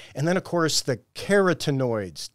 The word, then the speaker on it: carotenoids: then of course the keratinoids did I say that right yeah that's what I think outstanding so it's not spelled like carrot that you eat but the carotenoids are responsible for the orange color of carrots as well as the orange